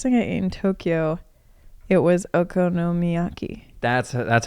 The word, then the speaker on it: okonomiyaki: yeah um best thing in tokyo it was okonomiyaki that's that's how you say it that's correct